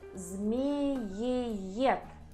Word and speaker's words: змееед: Змееед. Змееед. It's snake eagle, someone who eats snakes. And you need to pronounce all these 3 "е".